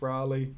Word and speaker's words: Raleigh: asked to play it thinks that it's rawly richie and i'm fairly sure it's riley like walter raleigh i guess but yeah